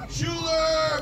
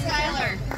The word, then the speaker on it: Schuyler: her sixth title Schuler how do you feel you got my name on every year it's Skyler Skyler he I'm Mexican I